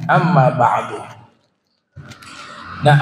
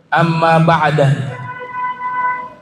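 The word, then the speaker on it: أما بعد: dengan Amma ba'du nah Amma ba'du ini cara bacanya bisa empat cara bisa kita baca Amma ba'da bisa juga dibaca Amma ba'dun Ya cuma ini kan tidak ya tidak formal dibaca demikian tapi Al Imam alfar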